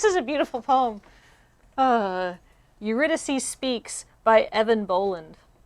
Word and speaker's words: Eurydice: how do i pronounce this eurydice eurydice oh off to a thrilling start eurydice